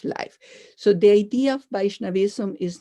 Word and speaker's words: Vaishnavism: So Vaishnavism, with V as victory, follows Krishna.